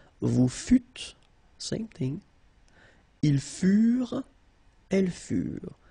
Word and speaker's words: furent: Ils furent, elles furent. Keep in mind that ENT, you know, the ending for the plural form is never pronounced, so furent. Okay? Ils furent, elles furent.